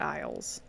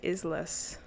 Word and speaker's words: Isles: Like I know Isles is said like you pronounce it Isles but I always have to say in my head isless. I might just be uh